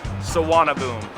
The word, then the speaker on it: Suvarnabhumi: defines this country and don't worry the pronunciation well it's much simpler than it looks Saab boom there are two main airports in Bangkok saana boom and the older don